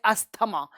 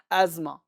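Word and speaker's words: asthma: अब TH को नहीं पढ़ेंगे तो अस्थमा हो जाएगा, लेकिन स को हल्का सा ज का साउंड देना है, एजमा, एजमा, एस्थमा, एस्मा, एजमा, एजमा, right.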